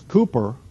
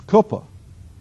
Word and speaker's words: Cooper: flows through there as Cooper as I would they will correct you it's not Cooper it's coopa the KOA River KOA